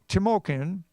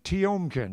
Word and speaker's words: Tiomkin: Pity was written by Dimitri tamokin tiom tiomkin that's the right pronunciation and Ned Washington and